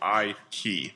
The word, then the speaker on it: Eikey: my last name is she would point to her I and then twist a key so I key so that was the